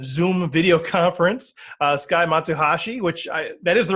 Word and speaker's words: Matsuhashi: today live via Zoom video conference uh Sky matashi which I that is the right pronunciation right Sky yes it is all right